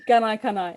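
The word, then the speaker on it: Gunaikurnai: Did I get the pronunciation right? Because I forgot to ask you. Gunai Kunai, it's close enough. Gunai Kunai, thank you.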